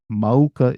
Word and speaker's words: mauka: We always thought that it's one word, but it's actually two words, as you can see here, ma and uka. But they flow together. There's no okina. Therefore, mauka is the pronunciation with the u being enunciated in the middle.